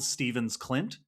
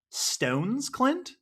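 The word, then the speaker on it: Stevns Klint: In Denmark, I am told by Sarah on Patreon, thank you, Sarah, that it is pronounced more like Stones Clint.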